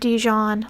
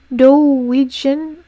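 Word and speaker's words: doujin: I almost said Dijon, like Dijon mustard. I love Dijon mustard. No, it's Dojin.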